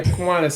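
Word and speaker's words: Kiwanis: Did I pronounce that right? So, yes. Look at you. Yeah. Kuanas.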